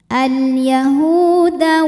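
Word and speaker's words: اليهود: La tattakhidul hukumnya adalah mad tabi'i dhahiri karena ada waw sukun didahului harokat dhammah, maka huruf ha panjang 2 harokat. Al-yahuda wan Kemudian alif lamnya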